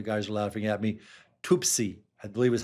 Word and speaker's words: Tuapse: Tuapse, I believe is how they say it.